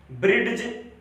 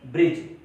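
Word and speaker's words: bridge: ब्रिड्ज नहीं, ब्रिड्ज नहीं बल्कि ब्रिज।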